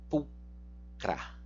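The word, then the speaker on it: pulchra: O CH você vai pronunciar como K, pulcra.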